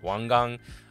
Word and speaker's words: Wang Gang: it wang gang it's wang gang uh obviously he's from china that's the chinese pronunciation of how to say that uh my bad so